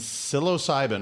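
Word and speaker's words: psilocybin: all right brother so plant medicine iasa and silos cybin am I saying that correctly you saying it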